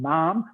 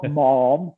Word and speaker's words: ma'am: first speaks to you then ma'am to rhyme with jam it says in the vote that's what you've got to do not mom but man all these things walk